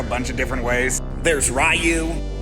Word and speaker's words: Ryu: of different ways there's ryu rue and ryu i'm going with what i understand to be the japanese pronunciation so get off my